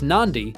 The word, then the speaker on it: Nadi: live spend some time in nadi pronounced Nandi to buy wooden artefacts